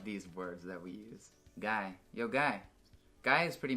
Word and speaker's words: Guy: Like, what are you saying, guy?